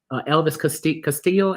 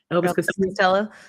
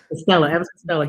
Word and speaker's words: Elvis Costello: Unfortunately, he won Elvis Castillo. Am I saying it right? Elvis Costello. Elvis Costello.